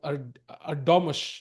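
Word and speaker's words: Erdoğmuş: That is, as somebody pointed out, Erdogmus is the correct pronunciation.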